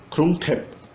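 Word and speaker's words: กรุงเทพ: Daí a gente tem o E, ele vem antes da consoante que ele segue. Então, na verdade, tem o TH e o E, mas a pronúncia é invertida. Então fica T. E no final um P. Final, Tep. Krung Thep, Bangkok.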